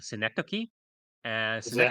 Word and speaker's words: Synecdoche: by an artist called Synecdoche. And Is that how you Synecdoche pronounce it? is All right. yeah, I actually had to Google it, and that's apparently how you pronounce it, Synecdoche.